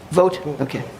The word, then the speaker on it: Vogt: It's pronounced Vogt.